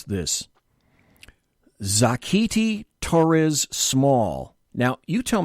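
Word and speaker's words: Xochitl: the hell am I going to pronounce this zakti Torres small now you tell me how this first word should be pronounced X o CI TI the three is silent zakti Torres small New Mexico Max Rose New York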